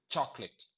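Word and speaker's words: chocolate: இதுல ரெண்டாவது ஓ பாருங்க, நம்ம உச்சரிக்கவே மாட்டோம். அதாவது ப்ரொனவுன்ஸ் பண்ண மாட்டோம். நாட் ப்ரொனவுன்ஸ் த செகண்ட் வால். முதல் வாவல் இருக்குது ஓ, அது ப்ரொனவுன்ஸ் பண்ணணும். ரெண்டாவது வாவல நம்ம என்ன பண்றோம்? டெலீட் அல்லது ஒமிட் பண்ணிடுறோம். அதான் சாக்லேட்.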